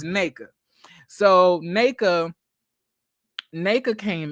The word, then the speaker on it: Nneka: name by the way it's not nanaka is really naked you just it's it's like an A but it's like got two ends in front of it and it's an e